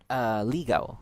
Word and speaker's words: ligaw: Ligaw, like ligaw.